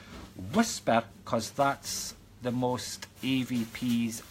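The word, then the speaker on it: WSPR: west Scotland paranormal research or pronounce it as whisper because that's the most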